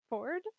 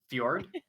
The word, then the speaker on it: fjord: The ICANN, it's also got a word I'm really bad at pronouncing. Whispering Ford? Ford? Fjord?